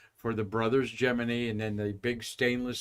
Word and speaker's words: Gemini: so now you know it's officially geminy that's why I'm saying geminy and not Gemini because NASA in 1965 cleared it up and said that's how we want you to pronounce it well here's our geminy